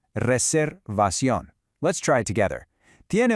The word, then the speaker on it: reservación: Notice the pronunciation of that R in reservación. Try to give it just a little roll if you can. Reservación.